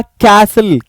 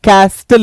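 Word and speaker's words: castle: विसल विस्टल नहीं ये होगा कैसल कस्टल नहीं कैसल किला को बोलते हैं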